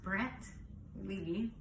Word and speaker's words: Brentley: It's pronounced Brent Lee Michael Cole Seyfried, and he's just our pride and joy.